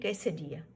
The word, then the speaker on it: quesadilla: ठीक है ना, इसको लिखते हैं हम लोग quesadilla है, QUESDIALLA, लेकिन इसको प्रोनाउंस करते हैं quesadilla।